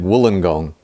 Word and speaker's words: Wollongong: And it is confusing because it's spelt Wollongong and that's how most American people say it because that's how it's spelt. But we say it Wollongong.